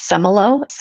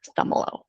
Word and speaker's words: Szumylo: It's Semmelroth. I always tell people to remember it phonetically. The Z is silent but some are high, some are low. Semmelroth. Ooh, Semmelroth.